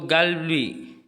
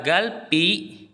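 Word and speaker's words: 갈비: contohnya kita SP sedikit yaitu galbi ini enggak dibaca galpi Biasanya kalau itu kan berubah menjadi sang B itu dibacanya galbi Bukan galpi tapi galbi eh galbi Bukan galpi tapi G galbi ini ini agak rewel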